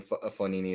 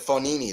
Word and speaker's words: Fognini: And then you know the G in Fonini is silent, right?